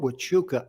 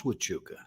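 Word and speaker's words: Huachuca: to go to fort wachuka arizona i couldn't even pronounce witchuka i didn't know you pronounced an h with a w right and i mean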